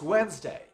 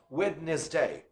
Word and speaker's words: Wednesday: day is it it's Wednesday Wednesday Wednesday House you notice the D sound is not pronounced we don't say witness day wrong we say Wednesday Wednesday Wednesday what day